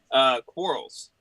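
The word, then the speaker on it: Quarles: Quarrels. Okay. Yeah, like fights, but without the extra R and the E and the L are switched.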